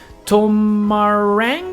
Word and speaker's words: Tomarang: So this is a 40 by 30 size of a lot in the brand new map Tomarang, I want to say. That's how you're supposed to pronounce it.